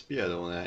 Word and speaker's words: Piedone: How do you pronounce, what is the right way of pronouncing this? I think it's Piedone. It's an Italian name, okay.